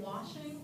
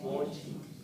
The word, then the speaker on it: watching: Watching。 watching 是看。哦，我喜欢。 If you pronounce the T, watch, watch, the T, it's watching.